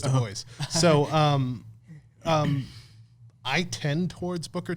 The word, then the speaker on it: Du Bois: Du Bois, which is spelled Dubois, but everybody says Du Bois.